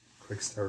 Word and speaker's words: Quixtar: Quickstar is spelled Quixtar.